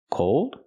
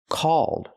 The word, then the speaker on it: called: cold is I'm cold the word is pronounced called so there's an important difference between these two words called and cold they're similar but they're different and they mean different things so we need to understand the pronunciation difference this app is called fan chat not cold but called use the a sound like ball and fall a a call called this app is called